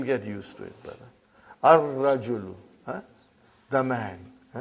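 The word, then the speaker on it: الرجل: Ar-rajulu. The man. Not al-rajulu. It will be wrong to say al-rajulu. It will be ar-rajulu. We won't pronounce lam. Why? Because it is a sun letter.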